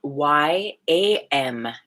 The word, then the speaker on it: Yam: The heart center, Yam, Y-A-M as in Mary, Yam.